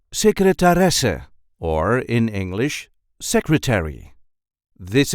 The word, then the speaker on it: secretaresse: see how to pronounce secretaresse, or in English, secretary. This is the way we say secretaresse. Secretaresse. There is a light emphasis on the fourth syllable.